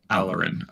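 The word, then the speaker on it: Alorin: preston how do you say your name again aloe rin a-l-o-r-i-n alarin okay alright has been assigned to your group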